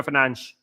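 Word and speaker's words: Fernandes: Um mate, Bruno Fernandez surname is pronounc Fern. Yeah. Yet no one only cares. Only we complain Y. Yeah. Bruno Fernanch.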